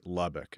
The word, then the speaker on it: Lubbock: But your most recent album, and me not being from Texas, how do you say Lubbock?